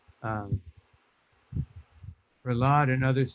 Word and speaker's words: Prahlad: And in this case, Prahlad is Pra lad. It's not Pra al lad. It's Pralad. So, there is a word aladha, which means bliss. But the the proper name pronunciation is Pralad. If somebody says Prahalad, well, that's their uh